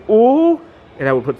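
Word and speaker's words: 五: Now in Chinese, 5 is pronounced "oo," and my mom would go, "Let's wake up, we got to go to school."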